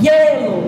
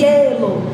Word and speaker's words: hielo: É o som do E. Então, quando a gente pronunciar, ó, hielo, ó, você escuta mais o som do E, hielo.